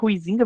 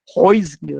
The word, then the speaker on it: Huizinga: A gente, em português, a gente pronuncia Huizinga, mas na verdade a pronúncia original em holandês seria algo Huizinga, alguma coisa. Né? Eu brinco sempre, né, que eu sou caipira, então eu falo Huizinga, né, que é a forma mais aceita, né, da pronúncia em português, né, não é correto,